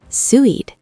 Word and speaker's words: Suid: Suid, south. Tricky UI sound.